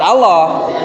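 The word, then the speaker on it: الله: Tapi kalau yang dibaca tafhim dalam pengucapan lafadz Allah itu adalah masuk ke huruf O.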